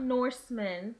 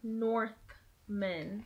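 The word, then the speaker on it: Northman: Not Norsemen. Northmen.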